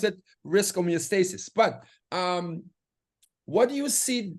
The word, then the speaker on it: homeostasis: I would have said stasis, and Dr. Paul in the public forum said, Ken, it's stasis.